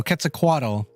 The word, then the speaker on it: Quetzalcoatl: ] me up quetzalcoatl quetzalcoatl that's apparently how you actually pronounce it quetzalcoatl big sis type